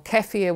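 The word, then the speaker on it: kefir: and those good prebiotics so plain yogurt or kefia which is actually a Bulan drink that has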